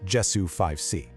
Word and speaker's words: JESU5C: It's pronounced Jessu 5C, but the idea behind it is actually incredibly simple and pretty powerful.